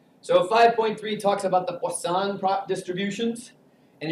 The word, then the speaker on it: Poisson: 5.3 talks about the Poisson distributions and it is Poisson not poisoned so say it in a French newbie tone of voice and you will say it correctly what song I teach